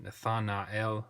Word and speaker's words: Nathanael: that tells us is this ae is not a diphthong but instead he is its own syllable hence me pronouncing it nathanael's whether than death on Nile there we go so